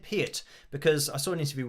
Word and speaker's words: Peart: So I remember that interview because when people say part or pert, it's like Peart is actually how he used to say it, or at least how it should have been pronounced.